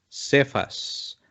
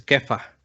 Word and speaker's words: Kefa: Esa palabra Cefas es aramea, es Kefa. Tú serás llamado Cefas. Cefas solamente es la forma castellana, es para que nosotros que hablamos castellano lo podamos pronunciar, pero es Kefa.